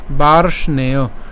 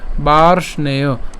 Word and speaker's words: বার্ষ্ণেয়: এখানে রেফের উচ্চারণটা র হসন্ত হবে এবং মূর্ধন্যস হসন্ত পর্যন্ত আমরা উচ্চারণ করছি, তাহলে এটা উচ্চারণ কেমন হয়? বার্ষ। এরপরে কি থাকে? নেয়, বার্ষ্ণেয়, বার্ষ্ণেয় জায়তে বর্ণ সংকরঃ।